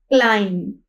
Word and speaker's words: climb: ठीक है, अब यहाँ पे देखते हैं फर्स्ट हमारे पास वर्ड है CLIMB, क्लाइंब। क्लाइंब है, ये बी जो है हमारे पास क्या है, साइलेंट लेटर है।